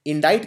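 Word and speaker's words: indict: तो इंडाइट में ये बीच में सी आता है। एक ये प्रोनाउंस नहीं होता। इसका उच्चारण नहीं किया जाता लेकिन लिखने में ये आता है।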